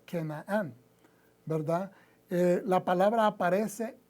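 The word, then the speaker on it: כנען: manera en hebreo y se pronuncia kenaan verdad eh la palabra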